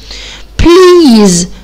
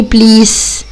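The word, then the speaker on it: please: اقوله بيز لو سمحت طب الاس يا مس هنا ما نطقتها ليه بليس مع ان هي اس نطقتها زد هقول عشان هي واقفه ما بين حرفين متحركين اللي هما الاي والاي فاضطريت ان انا انطقها زي الزد بقت اسمها بليز تعالوا مع بعض نبص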